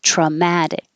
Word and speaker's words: traumatic: there to remind you hold your K in that position instead of traumatic don't say just hold it there in the K position traumatic this one there's two because